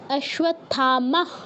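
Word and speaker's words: অশ্বত্থামা: তাহলে কি হবে? আশ্বথামা। আশথামা হসন্ত আসবে।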